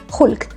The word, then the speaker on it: Hulk: So as you see, instead of like aspiring that Hulk, we say Julk. We actually turn it into a J, Julk.